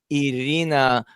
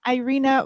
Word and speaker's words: Irina: the beautiful and hilarious irina welcome hello thanks well it always catches me off guard when people say my name with russian you know proper russian pronunciation i feel like um